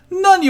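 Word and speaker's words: なに: Nani o tabemashita ka? Nani, it means what? Before the o particle, we do pronounce the I there. Sometimes we don't pronounce the I part, the nani there.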